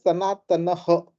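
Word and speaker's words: sanātanaḥ: But in the word sanatana, okay, it has come at the end of 16th syllable. So I will chant it as sanatanah. Okay, it basically extends the matra of the previous alphabet.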